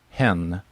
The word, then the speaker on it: hen: uh she okay and the new word is hen like him yeah like a chicken right yeah so hen